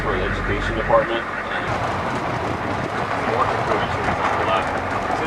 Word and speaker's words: kukui: It's the kukui. Kukui. It's spelled K-U-K-U-I.